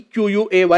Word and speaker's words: quay: The word quay, Q-U-A-Y, is pronounced quay.